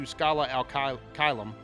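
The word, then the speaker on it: Scala ad Caelum: of them, Brain, is actually pretty important to Skyla Alka Kylum.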